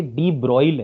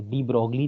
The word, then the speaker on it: de Broglie: ब्रॉग matter wave वैसे इसका य नाम की स्पेलिंग तो डी ब्रॉग है पर शायद इसको कहते डी ब्रॉल ब्रॉल कहते डी बगली नहीं कते ठीक र कुछ भी